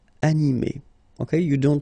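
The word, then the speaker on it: animée: So phonetically, you will get exactly the same form. So masculine form, animé, and then a feminine form, animé.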